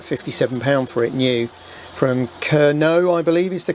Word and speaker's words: Kernow: I think I paid about £57 for it new, from Kernow, I believe is the correct way of pronouncing it, Model Centre.